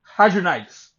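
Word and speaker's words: hidradenitis: I can pronounce the damn name. Hydronitis. There you go. That's how I pronounce it.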